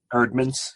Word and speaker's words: Eerdmans: The Evangelical Road to Donald Trump, published by Eerdmans. Is that how you say it? Eerdmans, yeah.